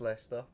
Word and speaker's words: Leicester: Lchester city is Leicester.